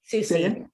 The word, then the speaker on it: Soucie: I mispronounced that? Soucie.